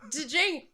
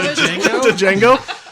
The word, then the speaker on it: Django: with an unchaining uh so D Jang I I Django that's negative one point griffindor with silent letters so jeno Unchained guys